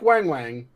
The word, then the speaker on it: Weng Weng: So it's pronounced like Wang Wang, but it's spelled like Weng Weng.